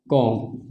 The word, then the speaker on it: comb: इस वर्ड में भी हम लोग देख रहे हैं कि बी जो है एम के बाद आया है, तो इसका प्रोनाउंसिएशन क्या हो जाएगा, कॉम्ब, ना कि कॉम्ब।